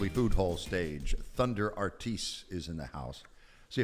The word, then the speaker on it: Artis: It was to solve a family argument because on the East Coast we pronounce our last name Artis, West Coast is Artis. And so my father was like, for the last kid, it's gonna be Artis.